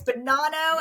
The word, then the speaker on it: Bonanno: And today in the studio, we have our good friend, Bonanno. And I said it right. Woo! I was like, it's like banana, but it's not. It's Bonanno, and I'm never going to forget that.